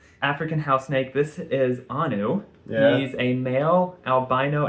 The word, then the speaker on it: Anu: Anu.